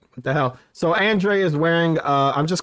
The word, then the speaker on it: Andrade: has his moment Andre so they pronounce it Andre right M event weird not how it's spelled that's not spelled right what the hell so Andre is wearing uh I'm